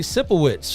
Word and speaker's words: Sipowicz: And last name rhymes with Sicko Tricks. That would be Andy Sipowicz from NYPD Blue.